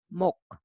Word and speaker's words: 몫: So you safely read with the first character. So it is 목, 목.